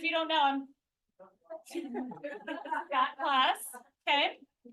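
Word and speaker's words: Klaus: Scott Claus, okay? Not like Santa Claus. K-L-A. It sounds like it. It's not spelled like it, yeah.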